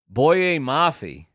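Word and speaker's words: Boye Mafe: Boyet Mafi, that's how you say it, in 2022 is their second round pick.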